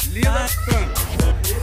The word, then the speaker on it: lilacan: Se ele é lilac, lilacan.